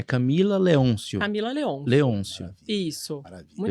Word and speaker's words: Leoncio: É Camila Leôncio? Camila Leôncio. Leôncio. Maravilha. Isso. Maravilha. Muita Perfeito. gente coloca o acento, mas não tem acento. É Leôncio sem acento. Pronto. Então, já puxando aqui, Camila Leôncio, fala para nós, para